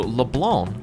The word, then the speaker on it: Leblanc: who the um cafe was named after so leblanc is the correct pronunciation which i just thought was an interesting